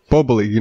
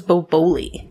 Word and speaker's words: Boboli: Bubbly. Those pre-made pizza crusts. I thought it was boboli. Boboli. Boboli. I go with the way the guy pronounced it in the commercial with the fake Italian accent.